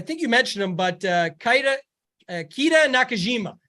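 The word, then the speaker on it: Keita Nakajima: After that, it's tough, but one that I think you mentioned him, but Kita Nakajima is how you say it.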